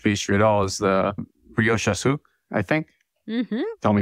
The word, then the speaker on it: brioche au sucre: at all, is the brioche au sucre, I think. Mm-hmm. Tell me if I'm pronouncing that correct. Which, brioche au sucre? Yes, that sounds a lot better than what I said.